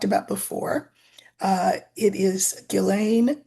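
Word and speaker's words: Ghislaine: Uh it is Gileain M and that is how you say her name so please don't try to correct me.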